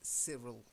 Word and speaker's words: Cyril: So just the first one is the name Cyril. I know it's a Y, but we don't say Cyril. It's Cyril. If you meet somebody and that's how they spell their name, it's Cyril, okay?